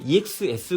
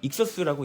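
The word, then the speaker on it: Ex-S: 0011 ext exus 건담입니다 우리는 옛날에 이제 exs 건담이라고도 읽었었는데요 정식적으로는 익서스라고 읽는다고 하네요 자 S 건담의 추가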